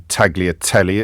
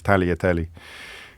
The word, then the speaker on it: tagliatelle: He says, please stop pronouncing the G in tagliatelle. It's silent.